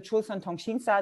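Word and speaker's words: 조선통신사: But my focus here is actually on the so-called documents on the Chulsan Tongshinsa. This is the Korean pronunciation, and Chulsan Tsushinchi, Japanese pronunciation.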